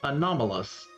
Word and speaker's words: anomalous: Um, how do you say that word? Anomalous. Oh, yes. Anomalous. Anomalous planet. Planet. Okay. I I was like I know it's not anonymous because it looks similar, but it's not that word.